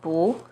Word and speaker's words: 不: When 不 is followed by a non-4th tone, which are the 1st, 2nd, and 3rd tones, it's pronounced as the 4th tone, as in 不知道, 不行, 不好.